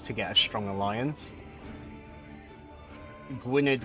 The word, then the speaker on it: Gwynedd: get a strong Alliance Gwynedd which I think is actually pronounced as Gwyneth because I think in Welsh 2DS is of the sound um they've got just